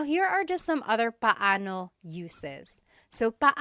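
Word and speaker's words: paano: It's technically pano. Pano when there are two vocab or when there are two vowels together, you say them separately. But when speaking quickly, Filipinos just say now let's practice using pano and gano in some questions.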